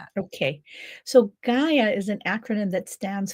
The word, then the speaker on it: Gaia: It's G. Gaia, just like the Earth, Gaia. Gaia. Okay. So, talk to us about the Gaia method because you go into great detail about that. Okay. So, Gaia is an acronym that